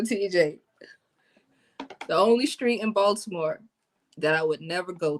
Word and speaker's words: Baltimore: I guess a street that I wouldn't go to after 8 o'clock in Baltimore, because I'm saying it wrong, it's Baltimore. The T is silent. Let someone from Baltimore tell it.